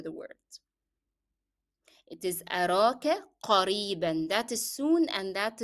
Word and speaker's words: قريبا: soon, and that is the n sound in قريبا is part of the pronunciation of the word, so you cannot drop it as you stop. You have to say it with the tanween. أراك قريبا, the sound should be apparent in pronunciation.